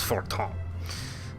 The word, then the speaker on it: Fortemps: And then, actually, the P would not be pronounced there. House Fortemps.